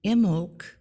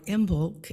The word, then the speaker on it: Imbolc: And Imbolc, or Imbolc, as it can sometimes be pronounced, you can light a candle.